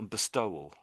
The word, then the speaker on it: bestowal: So, it's it's more bestowal.